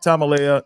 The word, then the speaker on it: Tamaleaa: that would be epic man anyway anyway Tamala is our guest am I pronouncing your last name right yeah yeah that's